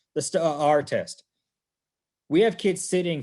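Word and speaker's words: STAAR: and i'm phonetic and they got two a's in that word and i pronounce it as such the sta our test we have kids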